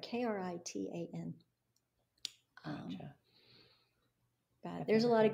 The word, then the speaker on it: Kirtan Kriya: Kirtan Kriya. Kirtan Kriya. Yeah, okay. I'm saying it right. Kritan.